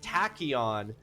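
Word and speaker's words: tachyon: So, the word tachion does mean that the first syllable of tachon is tacky. And so that's how it should be pronounced.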